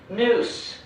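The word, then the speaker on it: ニュース: In Japanese katakana, this word is pronounced noose with an S sound.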